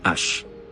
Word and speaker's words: hache: por influencia del francés donde se conoce como Ash al principio en español también se pronunciaba con una ligera aspiración como la h